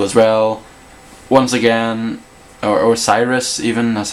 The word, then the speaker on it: Osiris: Once again, or Osiris even, that's how you say it.